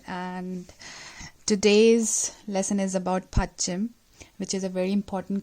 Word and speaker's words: 받침: Pa. This is pa, a, tha, chi, mu. Batchim. This is the way. 2 syllables, 1 and 2.